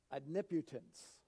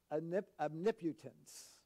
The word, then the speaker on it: omnipotence: this brings us to number three it's called omniputence not omnipotent as some of us might pronounce it it's pronounced omniputence okay it was was in a message one